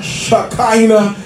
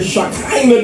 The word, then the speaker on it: Shekinah: And then we have the Shekinah glory. The Shekinah glory, and it is spelled like she, S-H-E-K-I-N-A-H.